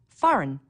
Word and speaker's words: foreign: notice the silent b foreign a g that you don't hear wednesday don't forget the